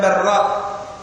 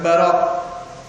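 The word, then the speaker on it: البراء: Itu bukan Barra ya. Bacanya bukan Barra. Jadi ada sebagian salah membacanya. Barra dengan wazan fa'al. Bukan, tapi Bara' Ibn Azib, bahwasanya dia berkata, kharajna ma'an Nabi sallallahu alaihi wasallam fi jinazati rajul.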